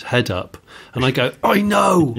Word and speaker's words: head-up display: You're saying heads-up display. It's not heads-up, it's head-up.